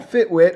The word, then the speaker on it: FitWit: I run a company called FitWit. I know you called Fitbit, but we're two totally different things. I run a gym in Decatur, Georgia. FitWit, Fitbit. I get it. The W, the B, it rhymes.